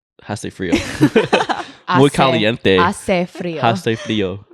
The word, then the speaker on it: hace: Hace frío. Hace frío. The H is silent.